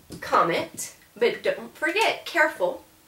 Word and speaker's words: comment: So the French word for how is actually, it looks like comment, but don't forget, careful, you're not going to pronounce that last T.